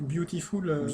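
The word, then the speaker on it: Biutiful: du nom est bizarre ça s'écrit B i u t i f u l donc beautiful beautiful beautiful ou euh donc au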